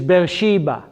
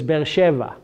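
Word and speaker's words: Be'er Sheva: So in English is Beersheba, but in Hebrew it's Beersheva. In Hebrew it is Beersheva.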